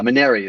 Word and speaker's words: Manary: last name before but is it is it manta ray or is that close uh Maneri is usually it there's a couple of spellings